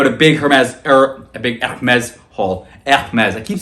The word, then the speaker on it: Hermès: Hermes. I keep saying the wrong. It's Hermes, but how many times are we going to pronounce it the French way?